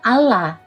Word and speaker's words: Allah: Di Indonesia itu pelafalan ini harusnya tetap Allah.